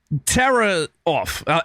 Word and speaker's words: Tarasov: Oh, it's Vigo Tarasov.